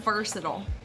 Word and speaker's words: versatile: about is the word versatile people tend to drag this word out and make it a four-syllable word emphasizing the last syllable with a long vowel some other words i